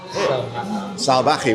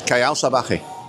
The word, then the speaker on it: Salvaje: Salvaje with the V is like a soft B. So it's Callao Salvaje.